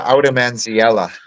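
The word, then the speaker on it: Oudemansiella: one more time please I pronounce it aom manella Aela okay and then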